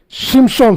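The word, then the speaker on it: שמשון: qui signifie shim SHON shimchon c'est mot qui est en hébreu qui signifie en hébreu shimson euh ce mot a de syllables les premières syllabes syllabe c'est chim et le deème syllabe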